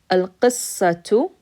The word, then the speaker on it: القصة: a haraka on it, that means you pronounce the ta sound with that haraka. So here it's a dhamma, so it's tu. Al-qissatu, al-qa, si, sad, ya, ra, ta marbuta, al-qasira.